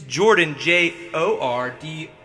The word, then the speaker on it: Jordon: Okay, so Mrs. Jordon, and it's Jordan, Jordon.